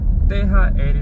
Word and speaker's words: THR: 제 블로그 에 몇 번 쓴 적 이 있는데 , THR 이라 고 쓰지만 " 티 - 히 - 리 " 라고 발음 해 요 .